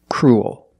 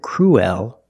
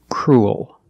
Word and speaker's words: cruel: We do not pronounce it cruel. We're not pronouncing the e. We're pronouncing the ue together as the sound oo. Crew, linking it to a dark l. Cruel. It sounds like pool and cool.